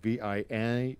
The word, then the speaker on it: Vianney: John Vianney vi-eeny VI a and n ey is how you spell that it's a Catholic High School and they've